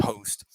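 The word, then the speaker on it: Khost: already blown up in host city the k is silent so it's k-h-o-s-t host um so in host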